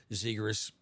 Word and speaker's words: Zegras: Trevor Zegras, yeah.